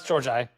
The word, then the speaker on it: Georgi: We are back with Stefan Georgi. Said correct, yeah? It's Georgi. Georgi. It's spelled like Georgi, so it would make sense.